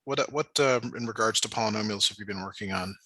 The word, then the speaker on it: polynomials: today oh uh we're gonna be working on palomi meanos uh polynomials or something okay polynomials uh that's how you say it poly polynomials